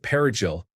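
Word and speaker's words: perejil: It was called the parsley massacre because of the use of perigil, the Spanish word for parsley. Spanish-sp speakaking Dominicans would pronounce it correctly, whereas Haitians who spoke French would pronounce it differently.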